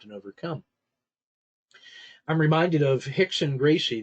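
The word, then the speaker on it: Rickson: overcome I'm reminded of Hickson Gracie the our and in portuguese is pronounced as an H but Hickson Gracie legendary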